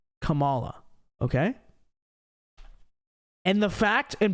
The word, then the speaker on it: Kamala: comment okay that is you pronounce Kamala Harris's name wrong don't you know it's Kamala they do the same thing